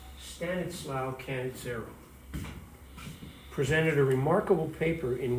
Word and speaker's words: Stanislao Cannizzaro: At this meeting, the Italian chemist, I love this guy's name, it's pronounced Stanislao Cannizzaro, presented a remarkable paper in which he helped solve what Dalton considered to be a mystery associated with atomic masses.